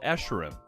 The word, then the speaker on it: Escharum: How do you pronounce Escharum? He's called Escharum.